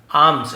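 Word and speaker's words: alms: asking for हो गया आर्म्स यहां पे एल साइलेंट होता है आर्म्स का मतलब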